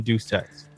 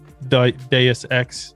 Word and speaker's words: Deus Ex: actually pronounce it correctly it's deuk's ex or something right like this ex deus ex and it's nah i'll